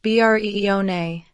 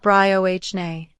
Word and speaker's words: Brioni: It's pronounced Breone, not Briohne.